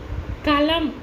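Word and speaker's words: كلام: Cough இருக்குது, காஃபில் நாக்கினுடைய வேறு பகுதியில் உச்சரிக்கக்கூடிய காஃப் அப்படிங்கும் பொழுது கலம் அப்படின்னு நம்ம சொல்கிறோம், அப்படின்னா பேனா அப்படின்ட்டு அர்த்தம். இதே தொண்டையினுடைய இன்னும் கொஞ்சம் மேலே உச்சரிக்கிறோம், கலம் அப்படின்னு நம்ம அடுத்த காப்பு உச்சரித்தோம் அப்படின்னு சொன்னால் அது பேச்சு அப்படின்ட்டு அர்த்தம்.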